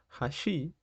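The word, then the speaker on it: 橋: es muy importante porque si decimos hashi es decir con la entonación más arriba en la parte del shi estamos diciendo puente y no palillos ojo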